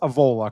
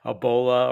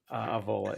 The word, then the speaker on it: Avola: It is pronounced Avola, correct?